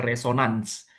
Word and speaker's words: resonance: Kalau bahasa bahasa Inggrisnya tulisannya resonance. Itu bacanya resonans.